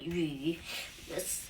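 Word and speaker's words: 项羽: Liu Bang will be pronounced in Chinese like Liu Bang, and in Xiang Wu, it's the saying would be like this. 项羽, not Wu, but Yu.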